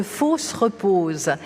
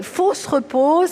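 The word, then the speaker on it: Fausses-Reposes: c'est un nom curieux ça s'écrit fausses comme faux ce qui n'est pas vrai et repose mais à l'oreille pour nous français on entend fausse la fosse la tombe et repose et il ya quelque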